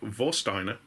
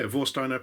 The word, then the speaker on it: Warsteiner: in a bottle of vosteiner which i'm assuming that's how you pronounce it because um it's a german beer and w is pronounced as a v there so if i butcher